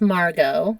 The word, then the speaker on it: Margot: And then Princess Margot, which again is a pronunciation thing.